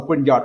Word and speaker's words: Grignard: kind of say like g r i in like green and at y after in so green yard reagent that's how they call they call them okay uh don't ask